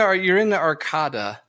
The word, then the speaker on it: Arcada: Okay, so you're in the Arcada.